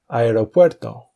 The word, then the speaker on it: aeropuerto: For example, aeropuerto could be broken down as a e ro pu er do.